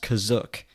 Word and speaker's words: Kashyyyk: In its first appearance in the Star Wars Holiday Special, it was pronounced Kazuk.